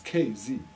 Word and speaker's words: KZ: Why are you saying? I don't know. Key. They say K, not Key. KZ. No, it's KZ. Okay. Yeah. Sounds more natural that way.